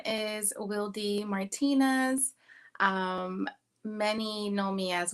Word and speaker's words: Wildy: Some people pronounce it as Wildy, but I am Dominican American, and my name is pronounced in Spanish.